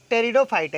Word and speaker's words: टेरिडोफाइटा: फिर एक खास बात का क्या ध्यान देंगे कि जो यहाँ पर आप देख रहे हो, एल्गी, ब्रायोफाइटा, टेरिडोफाइटा, इसमें पी है, पी साइलेंट है।